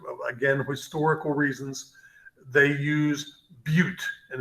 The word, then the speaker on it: but: In organic chemistry, for whatever reason, again, historical reasons, they use bute, and it's spelled B-U-T like butt.